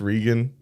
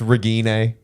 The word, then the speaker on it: Regine: It's Regan. It's Regine. Everyone mispronounces it though.